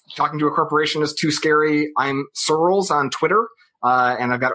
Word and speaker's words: Searls: on day one that you spell Searls or pronounce it like the word pearls, but with an S instead of a P.